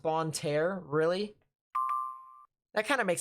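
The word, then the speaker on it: Bonne Terre: It's pronounced Bon Terre.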